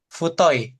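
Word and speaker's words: 太い: Futoi.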